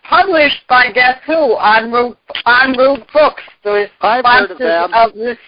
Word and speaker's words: en route: So En route Books is the sponsor, and if you just go capital ENROUTE, it's a French word, it's pronounced en route Books, or get it off the radio, it's on the radio list of things too, links.